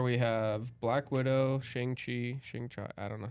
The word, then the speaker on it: Shang-Chi: So in phase 4 we have Black Widow, Shang-Chi, I don't know how to say that. Shang-Chi. Shang-Chi, okay, I did say it right.